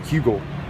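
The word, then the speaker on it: Heugel: I've learned his name and uh I know how to spell it. H E U G E L. Hugle.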